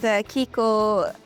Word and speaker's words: Kiko: Rockers, we're here in Finland, Helsinki, and I'm here with Kiko Loureiro. Yes. Did I pronounce that correctly?